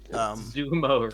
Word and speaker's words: sumo: Sumo wrestlers with a Z. Wow. Beautiful. What? Isn't that how it's said? No, it's sumo with an S. Sumo.